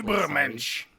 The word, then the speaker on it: Übermensch: perfect human being, like Übermensch. Correct. I don't know if I pronounced it correctly. Übermensch. That's how you Übermensch. pronounce Yeah. You have to say it with your tonsils.